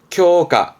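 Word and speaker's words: 強化: 쿄가, 쿄가.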